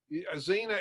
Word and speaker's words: Xena: i've ever seen that xena it's spelled x go e-n-a but you know the x in xena is silent like the p in swimming i get that